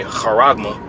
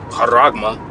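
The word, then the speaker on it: χάραγμα: a Mark or a harma harma that's how you pronounce it in the Greek uhma all right receive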